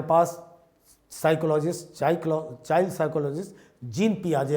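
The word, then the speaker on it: Jean Piaget: psychologist cyclone child psychology जिन पियाजे ए जाता है क्योंकि इसका स्पेलिंग लेकिन एक्चुअल स्पेलिंग जीन पियाजे होगा यह द तो स्विट्जरलैंड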